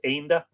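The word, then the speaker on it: Énda: In this case, Enda has a father on the E, which would mean it's pronounced Enda. That silly accent, says Miriam.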